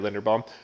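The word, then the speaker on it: Linderbaum: a quarterback oh no i said it right linda bomb because as we've seen everywhere quarterbacks are hard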